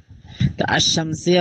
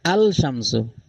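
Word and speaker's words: الشمس: করে এখানে যে দুইটা আনা হয়েছে এটা গুরুত্বপূর্ণ আশশামসিয়া বলা হয় কোনগুলোকে আশশামস যেখানে আলিফ লাম আসলে লামের উচ্চারিত হয় না। হ্যা লাম লাম অনুচ্চারিত থাকে। দেখেন আলিফ ডাইরেক্ট আশামস আশশামসু না আলশামসু এখানে লামের উচ্চারণ কিন্তু হয় নাই।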